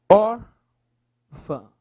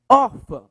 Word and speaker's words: órfã: Qual é a sílaba mais forte? Ah, professor. É or. Eu pensei que fosse fã, professor. Não. Cabe lembrar que o tio é apenas para marcar a nasalidade do som.